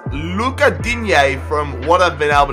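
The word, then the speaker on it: Lucas Digne: research on his name it's not Lucas D it is Luca D from what I've been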